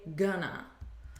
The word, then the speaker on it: gonna: to and we say gonna but notice again the pronunciation it's not with an o sound it's with a you gonna repeat gonna she's gonna be repeat she's gonna be